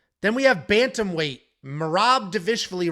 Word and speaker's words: Dvalishvili: It's the wheelie part at the very end. It's not Vili. It's wheelie, like a W.